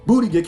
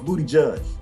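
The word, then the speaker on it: Buttigieg: Booty Gig came out of nowhere. Did I say it right? No, it's Booty Judge.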